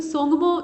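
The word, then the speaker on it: Tsomgo: सोंगमो की जो स्पेलिंग आप देख रहे हैं वो टी से स्टार्ट हो रही है। तो बहुत जगह ऐसा होता है जैसे सुनामी में आप कहते हैं सुनामी लेकिन लिखते हैं टी से, मतलब टी से उसकी जो स्पेलिंग है वो स्टार्ट होती है, वैसे ही यहाँ भी है।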